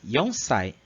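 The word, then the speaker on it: 四歳: Só que como o Shi remete ao som da morte, para a idade eles vão usar o Ion. Então vai ficar Yonsai.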